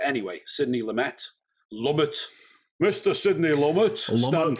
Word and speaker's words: Lumet: saying it right um i always think lou may sounds nicer though you know it's like yeah continental it's it's softer isn't it it's got that more sort of francophile uh pronunciation but anyway sydney lumet lumet